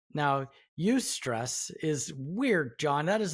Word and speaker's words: eustress: So there's eustress. Now, eustress is weird, John.